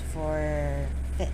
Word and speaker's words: forfeit: Forfeit, this one is just for, and the E is silent here, I guess it sounds. So it's forfeit.